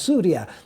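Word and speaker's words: سوريا: is sham itself which we Arabs pronounce Syria as suria you know because sham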